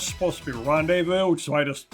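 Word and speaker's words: rendezvous: that word I know it's supposed to be Rondevu which is why I just said it that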